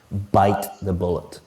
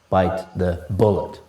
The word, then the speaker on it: bite the bullet: bite the bullet and the correct pronunciation of this is to stress or emphasize bite bite the bullet not bite the bullet the next idiom is